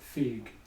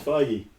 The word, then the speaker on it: Feige: The more important thing that we have to talk about is you said Feig. It's Feige.